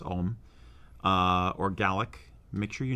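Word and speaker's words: Ogham: My other thought would be if you decide to do something that is, for instance, written in Ogam, it's actually pronounced Om, or Gaelic, make sure you know what the heck it says.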